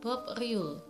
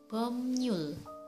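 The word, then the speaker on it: 법률: Harusnya dibaca Bob Riul, tapi yang benar adalah Bomnyul. Bomnyul.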